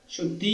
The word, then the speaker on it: the: নেই দা কনশন ভয়েল দি এর পরে যদি কনসোনেন্ট সাউন্ড থাকে তবে এর উচ্চারণ দা এর মত হবে।